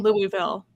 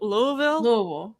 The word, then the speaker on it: Louisville: but it's at the G house in um Louisville Louisville Louisville Louisville sorry I'm I'm from New